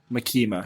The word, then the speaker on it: Makima: Makima. Yeah. Pretty much starts ranting to Makima. Yeah, he goes to the office. So he's doing paperwork at the Devil Hunter's office. And then Makima's asking him, like, oh, how you're doing?